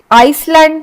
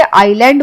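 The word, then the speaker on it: island: ये एस्मा हो गया फिर आइसलैंड नहीं बोलते आइलैंड बोलते हैं हम क्योंकि इसमें आई साइलेंट है तो हम बोलेंगे आईलैंड इस वर्ड में डाउट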